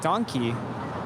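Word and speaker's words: dankie: are some similarities but the way they pronounce certain words is different like in German donkey is thank you right yes donkey but in Afrikaans it's more like donkey like like donkey and it is closer to Dutch from what Harmon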